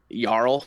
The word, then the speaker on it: jarl: They're like, "Oh yeah, we pronounce our J's with a Y with a bl." Yeah. Like yl, which is spelled J A R L.